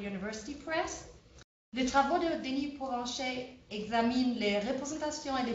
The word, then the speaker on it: Denis Provencher: Depuis Baltimore, Denis Provencher, je vais le prononcer à la façon française, professeur de lettres françaises et de la communication interculturelle à l'Université de Maryland, Baltimore County.